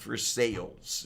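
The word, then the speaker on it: Versailles: ask me why but the place is named for Versa Castle it's spelled that way and they insist on calling it North for sales and it's like what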